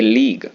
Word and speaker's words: league: ए लीग of states, A लीग उच्चारण क्या है लीग, LEAGUE लीग, ए लीग of states राज्यों का संगठन।